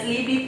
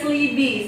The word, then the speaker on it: Slibe: Itu sebenarnya tulisannya Slibe, kita Ya. bacanya Slibi Pak, Oke. karena fanbase yang ada di luar itu biasanya menyebutnya Slibi. Slibi. Jadi kita juga ikut mendengarkan, terbiasalah mendengar namanya Slibi, makanya Oke. kita sebut Slibi.